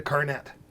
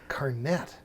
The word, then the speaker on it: carnet: deb i need a carnet and she looked at me like a carnet do you mean carne that it's like a silent t or whatever i was